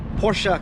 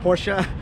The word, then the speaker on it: Porsche: right behind me it is a lifted 2008 porsa Cayenne it is pronounced Porsche I did just look it up and of